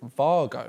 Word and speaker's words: Wago: it's Wago. Is that how you say it? You're apparently supposed to pronounce it Vargo. Because that's their name.